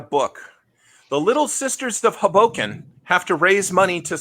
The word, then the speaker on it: Hoboken: I think, Matthew, if I may, I think what's confusing everybody is that you're mispronouncing the name of the city, which is Hoboken.